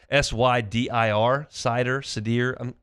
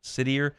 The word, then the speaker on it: Sydir: S-Y-D-I-R, Sydir. I think I'm going to go with Sydir Mitchell.